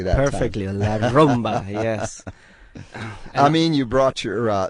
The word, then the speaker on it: La Rumba: Did I pronounce it correctly that Perfectly, time? La Rumba, yes.